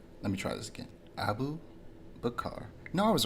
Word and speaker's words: Abu Bakar: So Abu Kabar, I'm pronouncing that name so wrong. Let me try this again. Abu Bakar.